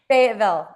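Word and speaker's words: Fayetteville: I've been trying to pronounce Fetville. Is that right? Fatville.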